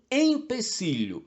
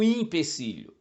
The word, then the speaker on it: empecilho: uma ação ser realizada é um empecilho não um impecilho como parece à primeira vista e como a lógica sugere O problema é que a palavra empecilho vem do verbo empecer que tem a mesma origem Latina no verbo impedir são sinônimos portanto finalmente infarto ou